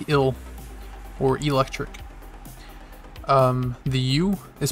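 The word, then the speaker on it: う: The third sound is U. This is pronounced like U in ooh, ah, U.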